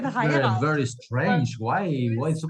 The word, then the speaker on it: Heirat: Heirat. Ah, okay. But it was so funny. We had like 6 or 7 comments from South America, and they all said heirat.